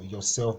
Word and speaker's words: yourself: on the board so if the pronoun is ending in self you have to stress the self parts so yourself become yourself this part will be caps then for the second